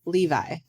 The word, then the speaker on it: Levi: here's another one hello my name is Levi pronounced like the jeans I'm from the UK